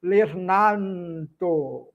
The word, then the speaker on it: lernanto: Lernanto. O n sai naturalmente sem o nasalizar porque lembrando, relembrando, todas as letras no esperanto devem ser pronunciadas.